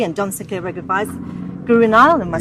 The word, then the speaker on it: Guru Nile: Guru Nile, am I saying it right?